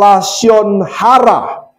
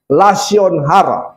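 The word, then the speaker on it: lashon hara: lidah jahat itu atau lasion hara. Lasion hara. Katakan lasion hara itu artinya lidah jahat atau kata-kata yang tidak seharusnya diucapkan.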